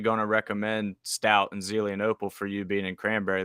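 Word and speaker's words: Zelienople: The is it Zenlope? Zelianopel, yeah. Yeah, wasn't going to pronounce that right.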